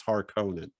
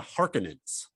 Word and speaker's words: Harkonnens: they didn't say it i was har conan i or something like that yeah which i'm like it's fine you know you can pronounce it either way it's clear who we're talking about well if you're gonna i've never heard anyone call them the harkonnens you know for years